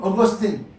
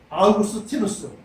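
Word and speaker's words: Augustinus: 이 단어는 성 어거스틴, 이건 영어식 발음이고 라틴어로는 아우렐리우스 아우구스티누스, 이것이 바로 성 어거스틴의 원래 이름입니다. 아우렐리우스 아우구스티누스.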